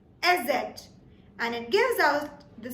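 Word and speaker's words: Eszett: The 4th character that we have with us is called SZ. SZ.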